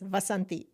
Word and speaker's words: Vasanti: It's not Vasant and it's Vasanti Vasanti pronounced in I can say it.